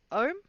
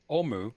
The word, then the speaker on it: Omu: Ohm? Restore what, sorry? Oh, I have it written down. Ohm. It's OUM. Omu. OMU. Omu. That's it. Omu.